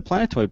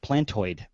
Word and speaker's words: Plantoid: This is the Planetoid Project. No, Plantoid.